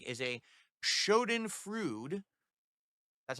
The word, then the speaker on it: schadenfreude: I realize now that wasting so much time following someone you don't like is a schadenfreude. That's how you pronounce it.